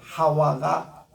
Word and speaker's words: 하와: 이름 자나는 거예요 그래서 우리 한국말로 하와가 히브리 언어에 맞는 얘기입니다 이거를 우리 한국말로 그대로